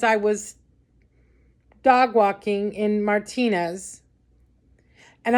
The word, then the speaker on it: Martinez: walking in Martinez and I'm going to say Martine because that's the proper way to say it I'm not going to whitewash the word Martinez and say Martinez that's not the proper way to say it it's Martinez okay so anyway I mean